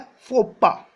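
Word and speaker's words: faux pas: देखो, इसका प्रोनाउंसिएशन होता है फोपा. क्या बोलते हैं इसे? फोपा. ठीक है? लिखा है फॉक्सपास. ठीक है? बट पढ़ेंगे इसे क्या? फोपा.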